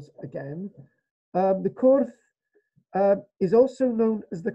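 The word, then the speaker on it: crwth: I call it the kurth. You could call it the kruth or a kurth. lots of different ways of pronouncing this.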